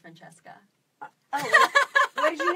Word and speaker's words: Francesca: It's actually pronounced Francesca.